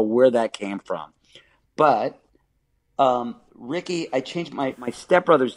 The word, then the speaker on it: Riki: I really could not tell you when it went to R-I-K-I, but what a stupid way to phonetically spell it. It's like, that's actually Riki, like Tiki.